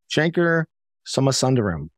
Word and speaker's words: Shankar Somasundaram: and I'm pleased to be joined today by Shanker summer sunderram did I pronounce that correctly that is correct all right